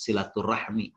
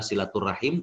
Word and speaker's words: silaturahim: kekerabatan ya jadi eh Namun kita sering membacanya dengan Rahmi silaturahmi tapi kembali bahwa Disini yang lebih tepat adalah silaturahim karena rahim ini dari